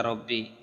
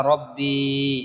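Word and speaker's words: رَبِّي: অনুষ্কারের উচ্চারণ হবে আল্লাহুম্মা আনতা রব্বি রাব্বি বলা যাবে না রব্বি আল্লাহুম্মা আনতা রব্বি তারপরে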